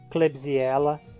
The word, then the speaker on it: Klebsiella: O K é pronunciado como C em cacto ou cruz. Acodon, Contíquia, Klebsiella, Kentrosaurus, Kinetoplastida, Keleria.